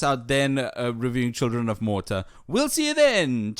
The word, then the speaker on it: Morta: And we're playing a 2019 game called Children of Mortar. Which I don't know what that is. Never, and it's mortar, not spelled like the actual grenade throwing thing, just mortar as in death, potentially.